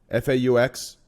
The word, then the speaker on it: faux: think it was Fox for a right chat FAU X that happened correct on on live stream Phil I'm pretty sure I saw that did anyone see that yeah Fox are almost positive this happened I'm almost positive